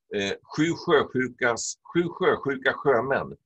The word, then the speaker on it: sjösjuka sjömän: The sh sound is can be tricky in Swedish. When they're young, they tell you this joke, sjösjuka sjömän. It's almost like Peter Pepper Pan. Sjösjuka sjömän. To rub in that pronunciation of the different sh sounds.